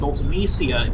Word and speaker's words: Ultimecia: The reason I pronounce it Ultimecia is because one of the letters that you can follow a C with and get a soft C sound is I.